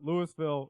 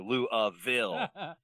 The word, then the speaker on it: Louisville: moment I would say the easiest and most common is just kind of that Louisville right Louisville uh but you don't have to really over pronounce or over pronounce any of the the pieces of the phonetics there um I've heard some people really put emphasis on the Lille or Lou ofil um and but it's